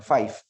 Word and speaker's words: Fife: es un Conde escocés se escribe fife algunos pronuncian Five que es el que